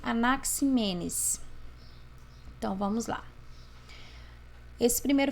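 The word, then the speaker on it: Anaxímenes: Pronuncia-se Anaximandro e pronuncia-se Anaximenes.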